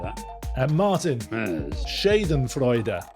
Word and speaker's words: Schadenfreude: Schadenfreude is the correct way to say the word, apparently.